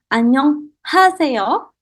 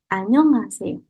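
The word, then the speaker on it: 안녕하세요: Jadi, cara pronunciation-nya bukan annyeonghaseyo, 아니에요, tapi cara pronounce-nya itu lebih seperti H-nya hilang. Jadi, annyeonghaseyo. Annyeonghaseyo. Seperti itu. Jadi, H-nya tidak perlu kita baca.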